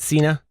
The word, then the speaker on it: Cena: say his last name how do you say it Cena Cena you guys say like the announcer okay and you read